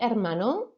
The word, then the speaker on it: hermano: Mi hermano. Remember that H is silent.